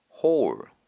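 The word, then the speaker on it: hall: 철자는 H L 발음은 홀 홀 뜻은 넓은 공간, 강당, 복도 이런 뜻인데요.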